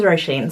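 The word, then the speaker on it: Róisín: coming along with me hello my name is rosheen so if you ever meet someone with that name you will know how to pronounce it so I thought this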